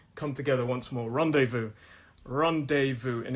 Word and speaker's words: rendezvous: in my head rendezvous so it looks like ron dezvou but we don't say the zed it's rendezvous and the last one